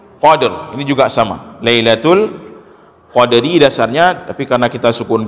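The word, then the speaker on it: ليلة القدر: tetap ada Qalqalah kode dan huruf ra disini huruf kasrah maka huruf road dalam keadaan katsrah hukumnya dibaca di tipis Lailatul Qadri khodiri nyambet subaca odery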